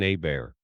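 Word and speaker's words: Abear: hello Jackson she said my name is Jackson AB bear pronounced a Bayer in cjun country I was just thinking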